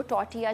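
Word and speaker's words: tortilla: आप उनको टॉर्टिया chips भी कह सकते हैं, जिसमें टी साइलेंट होता है, कुछ लोग टॉर्टिला बोलते हैं बट टॉर्टिला नहीं, टॉर्टिया चिप्स भी होते हैं।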